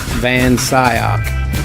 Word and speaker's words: Van Scyoc: into this tell me what is correct proper pronunciation is van sayoc ansaya yeah see i've i've talked with